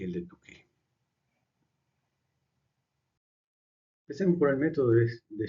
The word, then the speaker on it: Tukey: El método de Tukey, John Tukey, Tukey se pronuncia con U. Si fuera CK se pronunciaría Taki, pero es K sola, por lo tanto se dice Tukey.